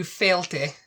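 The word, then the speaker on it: Fàilte: Number 2, Failte, and you thought that meant stop.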